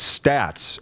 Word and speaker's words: Staats: Well, I always correct everybody, Rod, and tell them that I pronounce it Staats, so that keeps me away from that conversation.